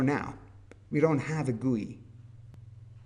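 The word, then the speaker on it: GUI: we don't have a guy this usually is pronounced guy graphical user interface excuse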